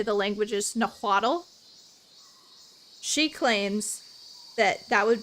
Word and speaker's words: Nahuatl: The TL sound, the L is kind of silent.